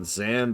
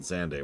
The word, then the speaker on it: Xande: we need to decide if we're pronouncing it xand or xande too I prefer xand but they do say his name once ever in the history of the universe and they did pronounce it xande when they said